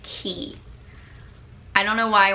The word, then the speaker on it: Quay: It's, I don't think it's pronounced Quay. It's spelled Q-U-A-Y, but I think it's pronounced Key.